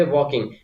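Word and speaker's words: walking: फम क्या हो जाएगी हमारे पास वकिंग ओके वकिंग य एल साइलेंट होता है दे व वकिंग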